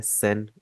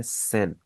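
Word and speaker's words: 千: सेन, उसको जरा देखते हैं सबसे पहले। तो सबसे पहले आपको ये आइडिया होना चाहिए, हजार को हम जापानीज में कहते हैं सेन।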